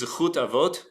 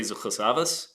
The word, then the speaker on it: Zechut Avot: And so there is this idea, in Hebrew, the phrase is Zechut Avot, or if your Yiddish pronunciation is what you favor, then you'd say Zechus Avos.